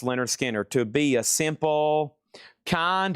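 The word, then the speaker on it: Lynyrd Skynyrd: Pronounced Leonard Skinner to be a simple kind of man.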